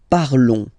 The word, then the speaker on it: parlons: Nous parlons, okay? Remember, final s is not pronounced, okay? And then this on together, they will give you the sound on, okay?